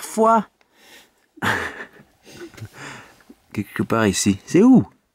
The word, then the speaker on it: Foix: Mais non, ça ne se prononce pas comme ça, il faut dire foie.